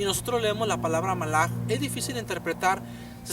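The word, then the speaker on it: מלאך: torá el sentido de la palabra Ángel es correctamente pronunciado con como malaj del plural malajim que quiere decir nada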